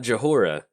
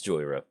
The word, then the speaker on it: Jhoira: draw a card and it's not it's not Joe hora if you're sitting there watching the video like Joel did you mispronounce joiosa no no no it's Joy era but yeah the first